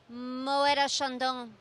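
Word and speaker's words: Moët & Chandon: Julia Fitzroy of and I learned how to pronounce it Mo Shandon oh I love that is that ready I mean come on say that again MOA Shandon oh that's try that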